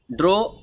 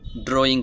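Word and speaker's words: drew: এই যে এখানে ই এবং ডাব্লিউ এই দুইটি লেটার যদি একই সাথে আসে, তাহলে এই ইউ এর মতো উচ্চারণ করতে হয়।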